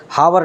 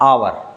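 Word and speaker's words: hour: इसमें भी आएगा एन क्योंकि हम इसे हावर नहीं पढ़ने बल्कि पढ़ने हैं अवर आई बात समझ में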